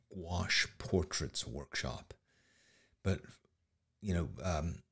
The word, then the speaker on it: gouache: Gouache is opaque watercolor if you've never used it. Gouache. That's how it's pronounced.